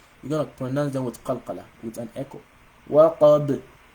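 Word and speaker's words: وَقَبْ: So you don't say waqaba when you stop on this. You don't say وَمِن شَرِّ غَاسِقٍ إِذَا وَقَبَ. You don't do that. That's wrong. You don't pronounce it like that.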